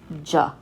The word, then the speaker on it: ج: speaking world you are formal it will always be pronounced ja like a harsh j sound okay now the next